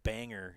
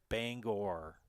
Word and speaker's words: Bangor: The one that drives me bananas is all my friends in Loyal call Bangor Banger, and it's not Banger, it's Bangor.